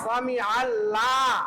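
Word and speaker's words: سمع الله: সামি আল সামি আল লাম সারা জবর লা সামি আল্লাহ সামি আল্লাহু হা পেশ হু সামি আল্লাহু সামি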